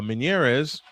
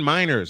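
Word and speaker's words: Meinerz: Zack Allen, Garrett Bolus, Nick Bonito, Quinn uh Minèz, uh Quinn Miners. I mispronounc I mispronounced that last year's defensive t player of the year and Pat Certan and of course uh Courtland Sutton.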